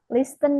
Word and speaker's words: listen: Listen ini pronounce-nya eh kayak t-nya hilang ya.